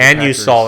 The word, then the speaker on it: Anusol: Anusol, that's how they say it. Anusol, huh? It's a little different than what I would say.